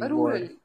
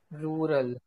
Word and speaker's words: rural: what do you pronounciate how you pronunciate the ruler word sorry rural rural rural okay yeah because this